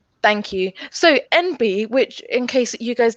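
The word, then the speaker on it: enby: way it's spelt because although it's pronounced n b as in the initials for non-binary it's written e-n-b-y and i always think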